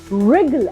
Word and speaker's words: wriggle: Wriggle and not wriggle. So again, in this combination, letter W will be silent.